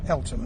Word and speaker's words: Eltham: Is it pronounced Eltham or Eltham? Eltham. Eltham, that's right.